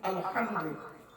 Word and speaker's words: আলহামদু: আলহামদু, এই গলার ভিতর থেকে এটা উচ্চারণ করবেন।